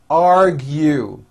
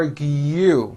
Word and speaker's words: argue: in the accounting department argue it's not argu it's r argue there's a hidden y i don't argue with